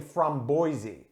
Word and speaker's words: framboise: This beer I called a framboise, which is the French pronunciation of the word raspberry. If you use the Dutch pronunciation, it's actually framboise, which is totally different. Most people still will call it framboise, but either are correct.